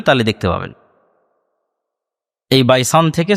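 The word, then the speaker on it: بيسان: বাইসানেরা তাবারিয়া আইনে নালে বাইসান সম্পর্কে বল খেজুর বাগান এই বাইসানটা এখন ইসরাইলের সীমানার মধ্যে পড়ে হিব্রু এবং আরবি উচ্চারণের পার্থক্যের কারণে তারা উচ্চারণ করে বাইতশিয়ান যেটা আরবিতে এসেছে বাইসান সেটাই হিব্রুতে বাইতশিয়ান ইসরাইলের একটা ভালো প্রসিদ্ধ শহর।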